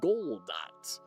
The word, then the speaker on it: Godot: Like why choose Unity over Goldot? Which is technically a correct pronunciation of it because Godot official said nobody knows how to pronounce it.